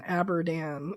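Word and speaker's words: Abadan: So, when he writes uh abdan Iran, what he means is Abdan, which is exactly at that point where the photos and the um the story is going to tell us. So, Andrew is pronouncing it correctly. Lou in the letter is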